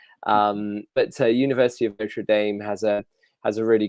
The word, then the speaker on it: Notre Dame: cathedral in Paris but Notre Dame is an American University and that's how the Americans pronounce it um but to University of Notre Dame has a has a